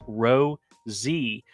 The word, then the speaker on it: Rosie's: says, oh, I spell it Rosie's, but it's pronounced Ro-Z, or just like Rosie.